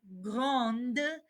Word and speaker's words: grande: it's feminine setin gond now we pronounce the d satuna grande me zon now let's